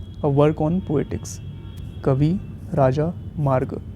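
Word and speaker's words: Kavirajamarga: this language is the Kavi Rajmarg, a work on poetics. Kavi Raja Marg. Always try to read such type of long words by breaking the syllables. Kavi Raja Marg. Kavi Raj Marg.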